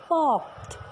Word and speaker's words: porte: Door को French में कहते हैं हम पॉर्ट, इसकी स्पेलिंग है PORTE। कैसे बोलेंगे? इसकी प्रोनंसिएशन है पॉर्ट। अगर ए डोर लिखा है